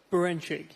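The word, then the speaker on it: Berinchyk: I've got to pronounce his name right. Beranchyk, yeah.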